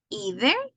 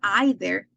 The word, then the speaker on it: either: either and neither and we have two pronunciation either and either or neither and neither and both are correct either neither either neither correct it doesn't mean that one of them is American pronunciation and the other is British no because people mix it so you can use whatever you want either either neither neither